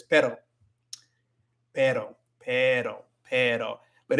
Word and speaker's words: pero: days ago, actually, because you want to roll your R with the single one, but no, it's just pero. Pero. So you can kind of make the E sound a little bit longer to prevent you from like rolling your R, but you don't want to roll your R with with pero, because it's not supposed to be a rolling sound.